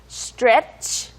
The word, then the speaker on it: stretch: 연습을 많이 하셔야 됩니다 스트 뭐 우리가 스트레칭 이라고는 많이 하잖아요 그렇지만 우리말로는 스트레칭 있데 영어로는 거의 한음절이에요 예스 str네 그래서 str이라고 하면 두 개의 음이지만 그냥 한 단어로 할 때는 str 하